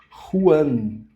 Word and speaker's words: Juan: Esse nome aqui eu não posso ler Juan. Juan Ju, como a gente falaria em português. Ju, Juliana. Então fica Juan. Juan fica esse R. Ru como rua. Juan.